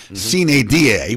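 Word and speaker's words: sine die: the special extraordinary session c da which is the correct pronunciation of of the nword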